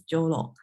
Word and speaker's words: Jyoro: as well okay and then oh how to pronounce it Joo uh hi my name is Joo and Tokyo to my research interesting is what